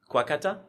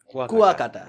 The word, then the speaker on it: Kuakata: I always mispronounce the name. Kuwakata. Kuakata. Kuwakata.